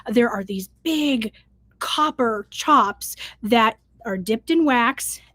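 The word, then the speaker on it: tjap: the quality of their chops. Now, if you don't know, chop t j a p I believe is how it is. It's pronounced kind of like a like your chop.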